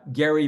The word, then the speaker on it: Gerry: the founding period named Eldridge Gary with a hard G um who drew up